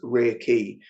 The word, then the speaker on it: reiki: with that one um reiki is kind of made up of two small words so there's rare r e i and pronounced re and then key uh pronounced key and so it's rear key and and rare means